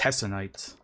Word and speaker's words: Hessonite: Now, if you did not catch her name, Hessonite? it's Hessonite.